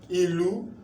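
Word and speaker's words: ìlú: Now let's use the sign to pronounce it. Ilu, do mi, ilu, do mi. Ilu means town.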